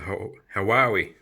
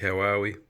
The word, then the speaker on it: Huawei: It's a Huawei. Apparently that's how you say it. Say it like Huawei.